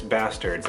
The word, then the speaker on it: Basterds: have a double feature Django Unchained and inglorious basterds I might as Basterds that's how it's pronounced I already own jingle and chained on